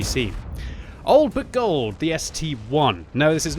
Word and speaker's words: ST-I: It's clearly the ST1. Don't pronounce it like an STI, otherwise you're going to be becoming a captain when you get that double-barreled tank and be calling it the STII, sir.